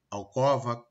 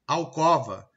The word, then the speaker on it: alcova: Eu tenho o E e o O fechado, omelete, alcova, crosta, mas eu pronuncio eles abertos. Omelete, alcova, crosta.